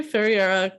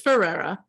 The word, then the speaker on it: Ferreira: __ ] it up I think it's just Ferreira right like American Ferrera let me get this forever you're right I'm the expert on the drama and I don't even know how to say her last name I am okay oh no you're not it's Ferrera yeah it's like America it's the alcohol talking no